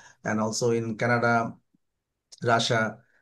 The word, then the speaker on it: Russia: And also in Canada, রাশিয়া। রাশিয়া শব্দটার উচ্চারণ কিন্তু রাশা। হুম, আচ্ছা। রাশিয়া, ইয়েস, রাশা।